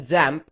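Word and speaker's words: XAMPP: we're going to use something called examp you can also call it zamp and that's how it's supposed to be pronounced however I'll just refer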